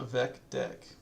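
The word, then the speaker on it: VecDeque: or deck whoops um I usually pronounce it I guess it's it's spelled like this um double ended Q I guess it's DQ but just to rhyme with VEC I usually call it a VEC deck in my head um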